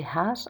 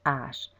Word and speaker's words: hache: Une hache, Same for this H here. It's a silent H. I don't say hache, I say hache. Une hache.